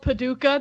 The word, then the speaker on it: Paducah: Yeah, it's called Paducah. That's the real name, and it's not spelled how you spelled it. It's spelled Paduch.